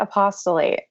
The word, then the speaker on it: Apost(le)ate: I pronounce it apostolate. So yeah, it's sort of a mashup of the word apostate and apostle, as listeners may have already guessed.